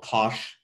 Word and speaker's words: cosh: it in the name so the hyperbolic tangent we have it's affectionately called tange hyperbolic cosine is called kosh hyperbolic sine is called cinch right so if you're talking about them that's how you would usually say them for the other ones